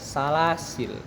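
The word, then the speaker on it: سلاسلا: Ketika waqaf, lafadz salasil boleh dua model, dua cara untuk membacanya. Yang pertama, waqaf pada lam yang mati bukan pada alif setelahnya, maka dibaca salasil. Kemudian waqaf pada alif setelahnya, lam, salasila. Pada keadaan tidak waqaf harus dibaca salasil.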